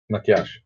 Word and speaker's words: Matjaž: Matjaž.